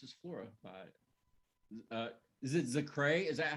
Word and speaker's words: ZaKrahe: This is Flora by Is it ZaKrahe? Is that how you say it when it's your project? So I still just go by ZaKrahe.